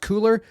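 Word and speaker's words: Cuellar: representative henry i think his last name is pronounced cooler uh c-u-e-l-l-e-r from texas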